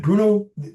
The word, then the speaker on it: Bruno: And I say in the beginning that the way he pronounces his name, it's almost like he's a big Russian bear. It's like Bruno, and Bruno became our photographer.